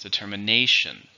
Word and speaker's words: determination: As you see here, it has 5 syllables with the stress on the 4th. Determination.